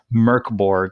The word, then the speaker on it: Mörk Borg: It is Mörk Borg, and it is spelled Mörk Borg, Mork. Borg, but it's pronounced, as best I can gather, Mörk Borg, which is, I believe